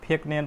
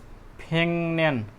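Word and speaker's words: 백년: चाहिँ के गर्नु पर्यो फेक न्यान पढेर भएन यो मिस्टेक हुन्छ प्रोनाउन्सिएसन के पढ्ने फेङन्यान उच्चारण चाहिँ के हुन्छ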